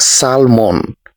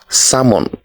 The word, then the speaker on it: salmon: so it is not salmon it is salmon the L is silent next this is honest